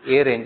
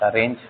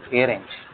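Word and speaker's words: arange: It is a range, it better pronounce it as a range, otherwise you end up writing arrange. It is not arrange, it is a range.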